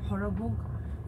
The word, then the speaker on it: सरभोग: यही वो जगह है सरभोग। इसका असमिया प्रोनाउंसिएशन है सरभोग, सरभोग हिंदी में कह सकते हैं।